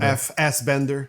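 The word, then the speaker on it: Fassbender: Michael Michael FS Bender.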